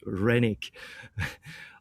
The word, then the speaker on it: Renick: So for this event, the DACA, I invited Renick to, I pronounce him in some kind of Austrian way. It should be just Renick.